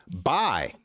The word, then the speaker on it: buy: Buy, which rhymes with die.